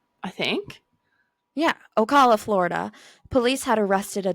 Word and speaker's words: Ocala: Ocala? I think. Yeah, Ocala, Florida.